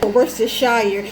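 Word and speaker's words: Worcestershire: don't know how to pronounce it including me versus shire it's the right pronunciation though okay thank you so much that's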